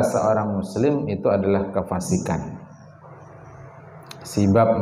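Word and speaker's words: سباب: muslim itu adalah kefasikan sibab bacanya bukan sabab kalau sabab itu biduni alifal bab Aal bda harfil Babil Aal sabab bacanya Kalau ini ada Alif setelah ba pertama bya sibab jadi mencela membuli menyamb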